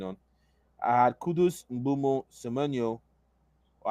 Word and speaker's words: Semenyo: I had Kudus, Mbumo, Semenyo, or I think his name in Ghanaian is actually pronounced Semenya, Saka, Bowen, Gyökeres, and Mateta.